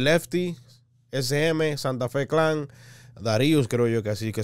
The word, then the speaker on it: Dharius: Por mi México remix, el Lefty, SM, Santa Fe Clan, Darius, creo yo que así que se pronuncia, C-Clan, MC Davo y Neto Peña, 1.1 millón de likes.